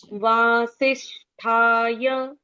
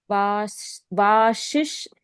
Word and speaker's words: वासिष्ठाय: निधए नमो व ब्रह्म निधय चौथा चरण देखेंगे वासिष्ठाय अब बोलो वाशिष्ट वाशिष्ट या वाशिष्ट वाशिष्ट है यहां पर वाशि